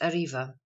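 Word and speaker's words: arriba: civil or criminal suits arba Spanish pronounced ariva Aloft quickly a m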